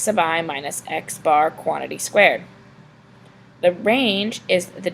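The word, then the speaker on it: x̄: So we pronounce this x bar.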